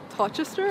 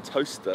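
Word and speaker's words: Towcester: So you're originally born in, is it how you say it? Like Tochester or? I'm Toaster. Toaster. Oh, that's how you say like, Toaster. Like a toaster, yeah.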